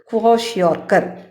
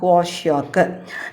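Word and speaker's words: Kwashiorkor: You have to pronounce properly. So repeat it. Kwashiorkar. Kwashiorkar. Kwashiorkar.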